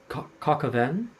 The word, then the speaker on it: coq au vin: There's it's pronounced coq au vin.